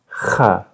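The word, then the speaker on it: خ: To try to produce the sound kha, what you need to do is use that soft palate at the back of your mouth. There's the hard palate where you pronounce sounds like k and g, but behind that there is a softer palate where you pronounce something like and so it's close to snoring, in fact.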